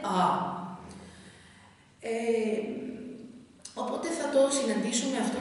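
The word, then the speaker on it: ağa: Βλέπετε, εμείς το λέμε αγάς, αλλά στα τουρκικά προφέρεται α.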